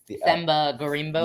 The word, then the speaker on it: Themba Gorimbo: Themba Gorimbo.